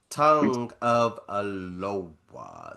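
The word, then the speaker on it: Tagovailoa: man name wrong, Tua Tonga Valoa. Tongue of Aloha. Say it that way.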